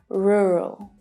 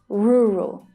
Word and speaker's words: rural: Officially, the correct pronunciation is rural, with a vowel sound as the stressed syllable. But I want to share a little tip with you because in Australia, our pronunciation of this word is much more relaxed. Roo, roo. So if you're having trouble pronouncing this word, put on an Australian accent and say rural, rural, rural, rural.